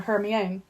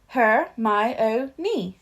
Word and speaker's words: Hermione: say her name properly he kept calling her her own her my o NE she said slowly and clearly her o nin close enough she said catching Harry's